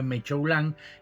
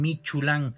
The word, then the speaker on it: Mechoulán: La Michu se llama porque mi papá, a nosotros el apellido se escribe Mechoulán, y en la frontera nos dicen Michulán, entonces somos los Michus.